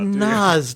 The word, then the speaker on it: Nas: It's Nas.